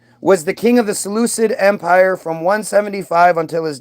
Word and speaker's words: Seleucid: So eventually they built up a big enough army that they attacked the Seleucid Empire. That was who was Seleucids.